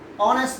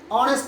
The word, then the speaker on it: honest: As for example, he is dash honest man. The word honest man begins with consonant letter H, but it is not pronounced or uttered.